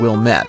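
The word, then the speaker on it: Ouilmette: Antoine Wilmette, that's spelled O-U-I-L-M-E-T-T-E,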